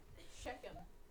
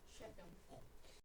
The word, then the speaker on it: Shechem: Shechem. Now this is where it breaks down. The CH is not pronounced ch in this case. It's pronounced k. Shechem.